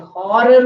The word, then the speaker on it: horror: So this is a hotel, this is a historical movie, or this is a horror movie. A we don't say horror, horror. There H is pronounced.